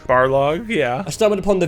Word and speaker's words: Barlog: Especially, like, I stumbled upon the video of, how do you pronounce his name? Corey Barlog? Barlog, yeah.